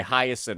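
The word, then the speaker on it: Hyacine: Hiasin is how you pronounce it.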